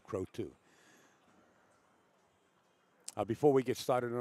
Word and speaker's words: Croteau: I had a candidate, I asked how to pronounce his last name, and he said Croteau.